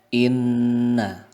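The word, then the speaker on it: إنّ: di sana ada tasdid, maka hukum bacaannya adalah gunnah. Arti gunnah adalah kita dengungkan, seperti halnya kita mendengar dengungan lebah itu ya. Kita dengungkan paling tidak 2 harokat. Sehingga kita membacanya adalah inna. Tidak hanya inna, tapi ditahan lagi, dan ini juga bisa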